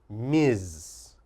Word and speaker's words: Ms: is this one Ms the MS is pronounced Miz Miz and we only use